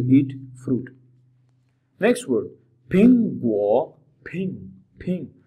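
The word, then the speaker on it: 苹果: Next word फिंग गो, फिंग फिंग। दोस्तों फिंग के शुरू में देखें ये है, दिस साउंड है, ये साउंड जब भी हम प्रोनाउंस करेंगे with a little aspiration, Phing go.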